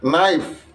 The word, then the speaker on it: knife: Ditulis knife, diucapkan knife.